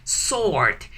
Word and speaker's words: sword: Sword. In sword, please never pronounce the word W, okay? So never, shh, don't pronounce W. Just say sword, okay?